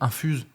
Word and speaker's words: Infuse: Après, le problème, c'est que prononciation infuse. Quand on le dit à la française, c'est pas très beau. Donc là, c'est mieux infuse.